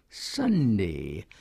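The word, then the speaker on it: sandhi: learn by yourself like Sunday s a n DH I pronounced the same as Sunday you can't teach and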